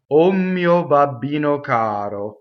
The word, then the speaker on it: O mio: omio okay so um the first word o is a strong mono syllable and what that means is um most one syllable words in Italian cause the next word the first letter of the next word to double okay and how that's